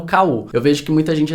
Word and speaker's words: KU: Um último bônus aqui nessa categoria é o KU, que é o Kindle Unlimited, que normalmente o povo usa, né, o Ku, fala que é o Ku, mas que na verdade se pronuncia KU, que é o serviço